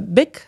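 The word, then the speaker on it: Bich: my all of my records is and the bic is actually pronounced as such yeah but whenever it's spelled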